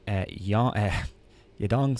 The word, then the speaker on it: Yadong: And I also like Yadong Song.